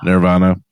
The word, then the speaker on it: Nervana: Nirvana. It is spelled Nervana if you want to search it. So it's not like the band Nirvana.